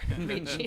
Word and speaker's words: Ricci: Ricky's, excuse me, no, you're not Paul Ricky, TJ Ricci, yes. Same spelling, different pronunciation.